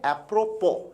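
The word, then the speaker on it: apropos: nothing विद्यार्थी ध्यान दें शब्द का उच्चारण है एप्रोपो इसमें एस को साइलेंट रखते है एप्रोपो ऑफ का अर्थ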